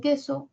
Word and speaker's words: queso: o y a y en queso cuál serían los núcleos sílabas que so Cuál es el núcleo en la primera sílaba que la e la u no suena eh la u no